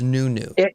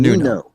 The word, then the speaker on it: Nuno: what he calls himself it's a portuguese name and as such it uses portuguese phonetics and it turns out the best way we can pronounce it in english is in fact new new so he's new yeah